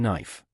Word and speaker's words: knife: how tricky they were K is silent in knife B is silent in